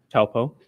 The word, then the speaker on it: Taupo: How do you pronounce that? Taupo.